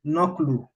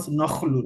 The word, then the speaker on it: naql: It is naqlu, not nakhlu, as initially pronounced, right, by my humble self.